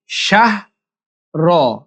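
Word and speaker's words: شهر: খাইরুম মিন আলফি শাহর লাস্টে শাহ র র হালকা উচ্চারণ হবে শাহর শাহর শাহর এরকম খাইরুম মিন আলফি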